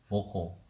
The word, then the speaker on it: vocal: vocal. 발음기로 볼게요.